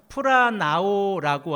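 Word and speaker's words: πλανάω: 깨닫게 되어집니다이 미혹하다라고 하는 헬라어 동사의 발음이 어떻게 되냐면 프라 나오라고 하는 이런 발음을 가지고 있습니다 제가이 동사를 암기할 때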